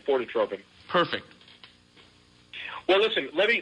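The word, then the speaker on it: Fortetropin: Yes, you're saying it right, phototropin.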